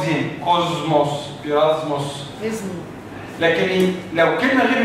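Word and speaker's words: κόσμος: قريب من السين الانجليزي ولكن لو جه بعده حرف الميم في كلمه يونانيه بنطقه زين زي كلمه كلمة كوزموس كلمة بيرافوس كلمات يونانية لما جه بعدها مين نطقه زين كوزموس بيرازموس لكن لو كلمه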